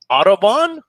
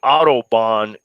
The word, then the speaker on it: autobahn: start looking for you the audubon society yes autobahn roll out the audubon society what is the